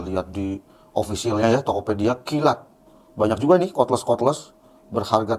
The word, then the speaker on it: Keelat: di Indonesia kayaknya baru mereknya kilat k e e l a p Bacanya apa ya kilat Thank you kilat ya